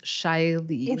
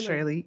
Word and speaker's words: Shiley: It is Ms. Shiley, not Shirley.